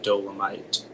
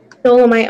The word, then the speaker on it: dolomite: Yeah, Belgium is an important producer of several industrial minerals, including limestone and dolomite. Dolomite, are there any alternate pronunciations? It can be dolomite or dolomite.